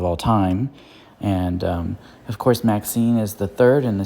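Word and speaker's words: MaXXXine: Anyway, the next movie I saw this month was Max 666, I think is how it's pronounced. Maxine, from Ty West, one of my favorite directors.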